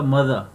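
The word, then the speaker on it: mother: यहाँ पे एंड वाला जो ई और आर है, ई और आर एंड में जहाँ भी होगा वहाँ पे श्वा साउंड आ जाएगा. ये साउंड बनेगा मदर. आर को प्रोनाउंस नहीं करना. एज I told you in consonant sounds that ending are is always silent.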